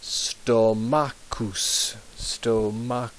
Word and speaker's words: stomachus: Stomachus there. CH, like a K.